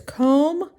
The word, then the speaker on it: comb: that number four is comb my hair comb my hair comb my hair all right how do you spell it c-o-m-b there's a silent b we don't hear that my my hair h-a-i-r